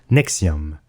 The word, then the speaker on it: NXIVM: york aux états unis elle s'écrit avec les chiffres romains nx10 vm et se prononce nexium elle possède également des